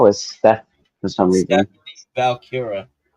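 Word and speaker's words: Vaquer: step for some reason valkira I think it's how you pronounce her last name it's V A qu e r i don't I don't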